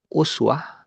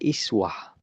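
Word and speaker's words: أسوة: Ada uswah, nanti di riwayat lain tuh ada iswah. Mas emang nggak tahu riwayat apa ya, tapi guru kami pernah menjelaskan seperti itu. Jadi ayat ini ada bacanya uswah, ada yang bacanya iswah.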